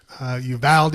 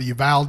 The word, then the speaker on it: Uvalde: Mass shooting in Uvalde. I've heard it's pronounced Uvalde in Uvalde, Texas.